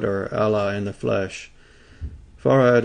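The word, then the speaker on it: Fard: Allah in the flesh farad is actually pronounced that way as if it were two syllables Elijah Muhammad farad's understudy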